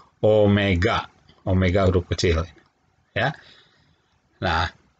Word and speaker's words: Omega: anguler atau frekuensi anguler lambangnya seperti huruf w tapi dibacanya Omega Omega group kecil ya